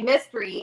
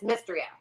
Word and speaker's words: Mystria: But I always want to say mystery, and it's Mystria.